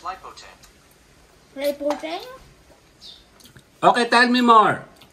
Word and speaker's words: Lipote: That's pronounced Lipote.